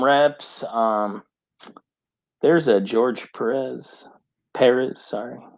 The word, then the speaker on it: Perez: um there's a george perez perez sorry he corrected me on his name when i picked this up how do you say it paris paris yeah perez perez